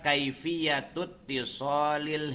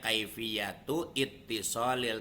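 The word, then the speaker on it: كيفية الاتصال: Nah, ini boleh saja sih dibacanya kaifiyatu ittisolil, tapi karena ini hamzahnya hamzah wasol, maka sebaiknya diwasol.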